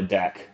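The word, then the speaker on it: deque: a double ended queue I'm just going to call it a deck right because that's how it's spelled out in Java so uh once we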